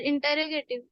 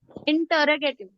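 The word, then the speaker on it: interrogative: हाँ सर, इंटरोगेटिव। Pronunciation सही नहीं कर रहे आप। इंटरोगेटिव। इंटेरोगेटिव। इंटरोगेटिव। इंटेरोगेटिव को छोड़ दीजिए आप, मैंने कल भी बताया था।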